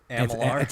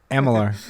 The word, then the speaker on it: Amalur: So Kingdoms of Amalur: Re-Reckoning, is that what it's actually called? Alamo. Yeah. What did I say? Amalar. It's Amalur.